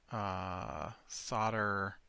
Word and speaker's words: solder: and that gets you solder wire which is weird to me cuz it's how it's pronounced where I'm at is solder but it's spelled solder I don't know why but silent L I guess oh yeah we actually